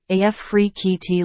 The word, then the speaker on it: Afrekete: African work at home jobs pronounced AF free KEYT Liberty Mutual https colon